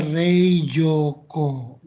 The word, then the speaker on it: 冷蔵庫: Ini dibacanya Reijoko.